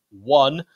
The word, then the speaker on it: Oné: Ryan One, spelt one, O-N-E, but pronounced, I'm reliably informed, One, a 17-year-old forward.